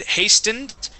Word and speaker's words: hastened: you you had said hastened and the t is silent hastened hent okay uh this